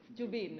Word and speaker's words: जुबिन: Well, I एम a huge जुबीन फैन। एक तो इनका नाम जुबीन, जुबीन, राइट, जुबीन।